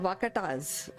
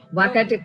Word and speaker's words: Vakataka: So tell us about this kingdom, Vakatas, if I'm pronouncing correctly. Vakataka. Vakataka is the name.